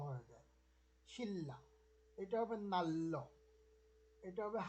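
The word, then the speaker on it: 신라: শিল্লা, শিল্লা, যেমন আমরা আল্লাহ যেভাবে বলি এরকম ন আর র মিলে ল ল হয়ে যায়, শিল্লা।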